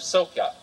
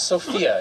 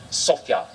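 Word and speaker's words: Sofia: the American College of sopia it's not Sophia even though it's spelled that way as my students reminded me sopia Mr coring the American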